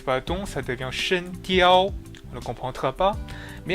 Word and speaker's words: 声调: pour finir, le ton en chinois se dit Shen Diao. Donc là, si vous entendez bien, vous devez remarquer que j'ai utilisé les tons. Shen, De Yao, Diao. Si je n'utilise pas le ton, ça devient Shen Diao.